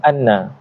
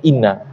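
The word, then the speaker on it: أنّ: dia menempati tempat ma'ful maka bacanya Anna bukannya Inna annakum kum tu Isim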